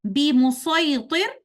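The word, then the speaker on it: بِمُصَيْطِرٍ: But in Surah Al-Ghashiyah, ayah number 22, the word be musaytir is read with sad only in our way of recitation.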